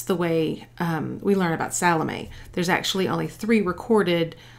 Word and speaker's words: Salome: to Google it to make sure I could pronounce it properly since I was going to be speaking to you. Her name is Salome.